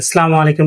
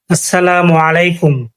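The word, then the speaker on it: السلام عليكم: কিন্তু অনেকে আরবি উচ্চারণটা ভুল করেন। অনেকে তো বলেন সালামু আলাইকুম এসে এগুলা বলা যাবে না।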